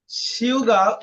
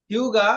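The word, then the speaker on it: 휴가: হিউগা লেখা আছে কি হিউগা বাট উচ্চারণটা হয়ে যাবে শিউগা কোরিয়ানরা এই জিনিসটা উচ্চারণ করার সময় উচ্চারণটা করে ফেলে শিউগা মানে কিছুটা স পুরোপুরি একেবারে স না কিছুটা একটা স এর টান চলে আসে শিউগা শিউগা মানে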